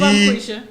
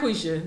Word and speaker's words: Bonquisha: No, see, I can see how No, it's she Bonquisha. could be sensitive Bonquisha, about it. B-O-N. That's how you spell it. B-O-N space Oh, so he's Q-U-I. Bonquisha.